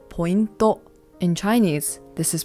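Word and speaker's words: ポイント: In Japanese, this is pronounced pointo.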